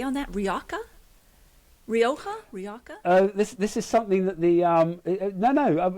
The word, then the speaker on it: Rioja: I mean, look up Viora Hotel in Rioja, and they sit literally in the lap of